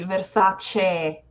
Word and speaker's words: Versace: I love this word because the final sound is e, and I've heard many English speakers pronouncing it as what I would identify as an I in Italian. Versace. Exactly. So this is gonna be Versace, like egg, excellent, Versace.